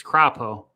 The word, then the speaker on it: Crapo: idaho we've got mike krappo what a name is that how you pronounce it or is it crapo it is mike croppo craw it's croppo mike croppo crappow if i just